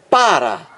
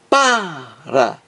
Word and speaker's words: para: oxítonas entendeu então aqui na palavra para existe acento tônico que é o mais forte é o som mais forte na primeira sílaba para para acent tônico na primeira